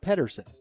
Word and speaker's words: Pedersen: It looks like Peterson, but it's pronounced Pedersen. And we're going to get you some pitching numbers here for Mr. Pedersen.